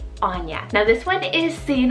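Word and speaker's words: Áine: we have the name anya so a i n e anya now this one is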